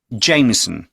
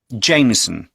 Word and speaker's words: Jameson: Jameson. J-A-M-I-E-S-O. ই এস ও, জেমি, সো, তারপর N. এন বলেছে লাস্টে। তো চলুন আরেকবার আমরা উচ্চারণগুলো শুনে দেখি। Jameson.